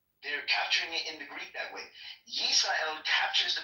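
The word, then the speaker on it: ישראל: All of them uniformly, Rayabaya, capture the pronunciation as Yisrael.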